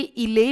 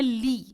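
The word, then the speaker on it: Île: अब जो ये ILE है ये इले नहीं है, ईल नहीं है, बल्कि इसकी प्रोनाउंसिएशन है ली, आई साइलेंट है इसमें, ली एम्स्टर्डम।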